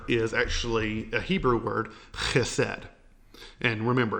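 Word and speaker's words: חסד: Now that word is actually a Hebrew word, chesed. And remember, if you're pronouncing that well, you're spitting everywhere.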